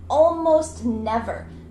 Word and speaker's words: almost never: is a consonant n almost never the t gets cut out.